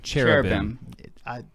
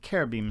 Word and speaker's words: cherubim: And so those closest to God would be the seraphim, the cherubim, and the thrones, right? Cherubim. So some people say cherubim. It's cherubim is proper.